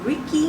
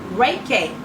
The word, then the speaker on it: Reiki: us in a little bit a LMT a Ricky Master did I pronounce it right reckon Reiki master a master herbalist and an author she